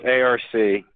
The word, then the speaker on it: ARC: Well, first of all, it's ARC. Right. Is it never pronounced Ark? Never.